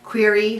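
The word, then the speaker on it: Quaere: doing some secret knitting it was donated by query fibers it's q-u-a-e-r-e that's how it's spelled okay and so she um generously gave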